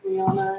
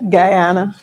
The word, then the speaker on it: Guyana: I don't know how to pronounce it. Gana Guyana.